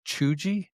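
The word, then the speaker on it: cheugy: Chuji.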